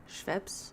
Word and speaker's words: Schweppes: Lacroix once in Korea I haven't seen Schweppes Schweppes is how you pronounce it but all of these like other